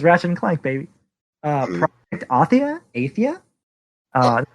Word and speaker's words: Athia: Project Athia? That's how it's pronounced, but new Square.